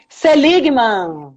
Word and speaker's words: Seligmann: como é que pronuncia teu nome, mulher? Seligman.